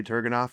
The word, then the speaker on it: Turgenev: I heard someone in here earlier saying the proper pronunciation was one of you guys. Turgenev. Yeah, it was. Yeah. I'm going to say Turgenev, and we'll go from there.